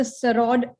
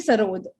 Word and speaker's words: sarod: He's been famously known as the sarod. It's actually sarod, if I'm not wrong. Sarod. Yeah. S-A-R-O-D.